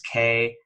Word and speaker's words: Kniaz: it's Kseniya, Kseniya, and her last name is Kniaz as in zebra, EVA.